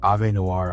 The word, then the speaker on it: Avenoir: My secret to making good Avenir or A Noir. I've been corrected. I was saying Avenir this whole time cuz that's the way it's spelled, but apparently it's wrong. It's a noir.